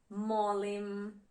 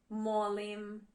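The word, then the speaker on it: molim: Please is mim. Mim in Croatian.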